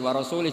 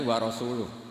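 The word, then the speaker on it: وَرَسُولُهُ: Allah itu terbebas, gak urusan dengan orang musyrik, wa rasulih juga gak ngurus Rasulnya. Kalau sama Rasul saja tidak ngurus, apalagi sama kita. Sama Sayyidina Ali dibenarkan yang benar bacanya itu wa rasuluh.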